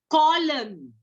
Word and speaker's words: column: So last word with N, we'll see column. C-O-L-U-M-N. Column. So here are the pronunciation, the silent word N is always after M.